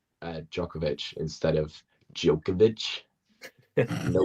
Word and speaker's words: Djokovic: Look, it is the the proper pronunciation is is is Jovovich, right?